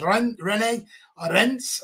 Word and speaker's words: Rennes: Dynamo Kiev got beat 1-0 against FC Rennes, as it's actually properly pronounced.